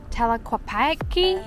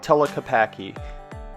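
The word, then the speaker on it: Tlaquepaque: We're walking into Telquapi. I don't know how to say it. This place is called Telapaki.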